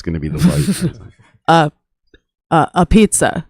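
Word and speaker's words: apizza: A pizza. It's pronounced a beats.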